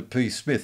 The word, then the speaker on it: Psmith: just turns it into p smith and of course there are dozens of pages of humor where he's telling people that it's the p is silent as in tarmigan or